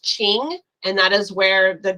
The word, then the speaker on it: Qing: Qing Dynasty I know q i n g is actually pronounced ching and that is where